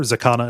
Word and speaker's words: Xicana: If you're looking to find this, well, there will be a link, obviously, but also for remembering it later, Zakana is spelled XICANA.